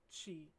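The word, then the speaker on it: ち: It's ta, chi, tsu, te, to. As we discussed before, there are no t or tu sounds in Japanese.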